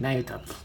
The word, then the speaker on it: Nayuta: That's how you say it, Nayuta.